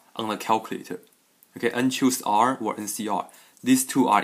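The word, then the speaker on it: n choose r: sing in the book and choose r okay this is how you how you say it and choose r that's exactly the same as un c r on the calculator okay unchoose r or ncr these two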